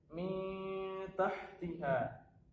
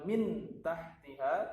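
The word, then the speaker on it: من تحتها: Mi tahtiha. Jadi di sini ada nun sukun ketemu dengan ta. Maka cara membacanya adalah mi tahtiha. Jadi bukan min tahtiha tapi dengan dengung.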